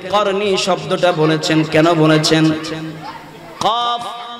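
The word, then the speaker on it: قرني: আমার নবী এখানে যে করনি শব্দটা বলেছেন কেন বলেছেন কফ র নুন ইয়া চারটি অক্ষর আমার নবী বললেন কফ র নুন ইয়া যেটার উচ্চারণ হয় করনি এই করনি মানেটা কি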